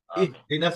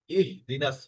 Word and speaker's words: اهدنا: এখানে ইহদিনা সিরাতাল মুস্তাকিম, ইহদিনাটা একটু আপনার ইহি হয়ে গেছে, আপনি বলেছেন ইহি, মানে একটু হালকা আসছে, কিন্তু এটা কিন্তু ইহদিনাস মানে হাটা একদম গলার শেষ দিক থেকে উন্মুক্ত ভাবে উচ্চারণ করতে হবে।